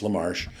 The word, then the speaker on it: LaMarche: It's just Maurice Lamarsh. Um Instagram. Instagram. I'm Maurice Lamar. Lamar is spelled L M A R C H E. Uh I don't tweet that much, but it's Maurice Lamar all one word.